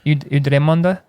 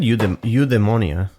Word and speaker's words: eudaimonia: How you say it? Eudremonde? It said eudaimonia. Eudaimonia. Yeah, eudaimonia. And that's just the way that's why I'm emphasizing what Ken says.